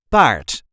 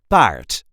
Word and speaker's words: paard: a regular Dutch accent Bart or horse in English this is the way we say Bart b part yes there is an r in it but you don't really have to roll that R you can if you